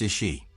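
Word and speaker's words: Iași: The place it went was Banka Transylvania in a city called Yasi that's pronounced is she and it's in Romania.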